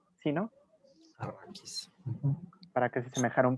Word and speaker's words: Arrakis: Vinieron a quitar los matorrales que hay por ahí, lo dejaron todo para que pareciera, ¿cómo se pronuncia? Arrakis, ¿sí, no? Arrakis.